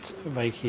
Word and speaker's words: reiki: it mean well peki if you were to split reiki into two syllables the rate and key may is universal and